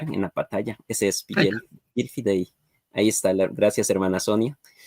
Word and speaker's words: Vigil Fidei: me dieron una idea y ahora se llama Vigil Fidei, o se escribe Vigil o Vigil Fidei, o el vigilante de la fe o centinela de la fe en latín, como quieran decir.